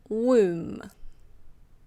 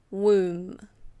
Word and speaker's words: womb: Now we have womb. Womb. Yes, the B is silent.